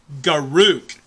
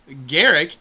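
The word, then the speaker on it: Garruk: players tend to mispronounce a lot of players call Garrick Garrick Karuk Karuk is wrong Garrick is correct route route go ruk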